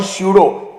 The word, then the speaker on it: pseudo: अंग्रेजी में दो वर्ड है, साइकोलॉजी और स्यूडो, PSYCHOLOGY और PSEUDO। ऐसे शब्दों में प खामोश है।